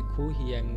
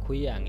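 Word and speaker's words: 고향: যদি আপনি এটাকে যদি খু হিয়াং যদি বলেন তাহলে কিন্তু হবে না। আমি আগে বলতাম খু হিয়াং যখন বুঝতাম না তখন, কিন্তু এক্স্যাক্টলি এটার উচ্চারণ হবে খুইয়াং, এই হিউতে এটা উচ্চারণ হবে না।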